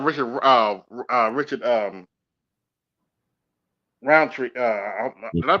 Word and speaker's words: Roundtree: in power of Richard uh uh Richard um Round Tree uh did I pronounce his last name right Richard Roundtree yes Richard round the uh who is the